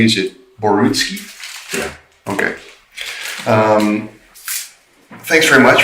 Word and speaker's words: Borutski: Now, Basil, am I pronouncing your last name correctly? Is it Borutski?